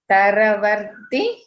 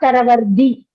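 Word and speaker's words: तरवर्ति: Taravarti, not taravardi.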